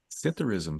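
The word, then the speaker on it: psithurism: With a silent P. It's like pithther. If you were to say it phonetically with a P, but it's sytherism.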